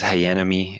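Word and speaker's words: Hayanomie: talk and YouTube yeah h-a-y-a-n-o-m-i-e it's like hayan and enemy you're on Tick Tock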